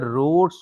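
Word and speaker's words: Raoult: Solution that follows या OBCs that follow या OBCs the रोड्स लॉ।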